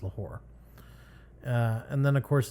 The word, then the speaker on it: Lahore: Okay, so it is Lahore, Pakistan. Uh, I I I I thought it was Lahar, but no, it's actually pronounced Lahore.